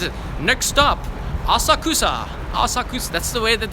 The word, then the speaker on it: Asakusa: this the train line says it next stop asakusa Asakusa that's the way that the trainer announces itself then what about your pronunciation don't worry about breaking social norms here